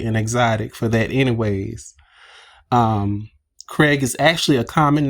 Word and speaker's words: Craig: Craig is actually a common name here in America, and most likely he pronounced, I'm sorry. It's most likely pronounced by most people like C-R-E-G, and he should respect that.